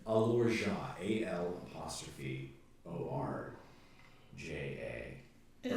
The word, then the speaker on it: Alorja: Wait, did you say the allure? It's pronounced Alorja, AL'ORJA.